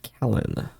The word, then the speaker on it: Kalen: I am Kalen. Oh, pronounced Callan. Callan, okay. I've heard of you.